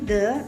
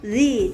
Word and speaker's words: the: Sebagai tambahan, jika ada definite article the dengan kata benda yang berawalan dengan vokal a, i, o, u, e, maka membacanya bukan lagi the tetapi the.